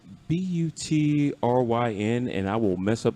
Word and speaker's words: Butryn: It's Butryn, and I will mess up the pronunciation in a heartbeat. And she's a very funny woman. And also a mate named Josh Gibson. Butryn.